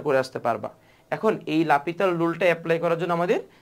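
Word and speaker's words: L'Hôpital: রুলসটা হচ্ছে লাপিতাল rule লাপিতাল rule কে লিখা হয় এল হসপিটাল রুল আর কি বুঝছো উচ্চারণটা হচ্ছে লাপিতাল সো এই এল হসপিটাল রুল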